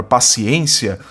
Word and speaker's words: paciência: que é da palavra paciência, obedece à mesma regra do termo sublinhado do item 4, que é a palavra solidário. É verdade ou mentira? Verdade. Ambas trazem sílaba tônica na penúltima sílaba, são palavras paroxítonas terminadas em ditongo crescente.